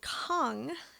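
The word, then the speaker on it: käng: sweden where they're from the genre of music that they play is called kong am i pronouncing that right i think so yeah k-a-n-g yeah it reminds me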